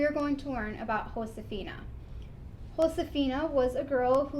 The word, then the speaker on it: Josefina: so that is why even though in english her name would be josefina really her name was pronounced josefina because in spanish the j is pronounced with as an h so this is the